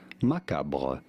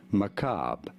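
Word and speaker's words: macabre: they say macabra macabra with an emphasis on the second syllable the American pronunciation however is as maab maab they do forget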